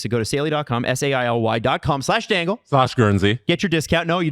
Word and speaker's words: Guernsey: the E in Guernsey is silent.